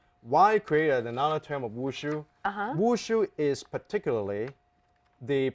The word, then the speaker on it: Wushu: because I know I won't be able to pronounce it. Try me. Washu? Wushu.